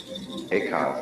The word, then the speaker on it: Eka: Eka is Japanese pronunciation, like Zen is the Japanese pronunciation of the Chinese Chan.